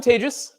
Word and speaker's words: Tejas: um so hi I'm Tejas um it's it's as I mentioned it's a pleasure to be here closing up the conference my name is pronounced like advantageous um whether or not